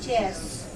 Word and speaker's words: chairs: No chairs. No chairs. No, the pronunciation will be Z. Chairs. I think. Do we say that, sir? Yes. Chairs. Yes. Because the last sound is a voiced one.